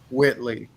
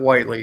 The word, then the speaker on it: Whitley: our canadian friend is rob whitley not whiteley he corrected me on that last week okay it's spelled w l e y spelled this yeah yeah